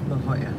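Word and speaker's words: La Jolla: you off it's going off and six it's pronounced L Hoya it's right here thanks no problem hey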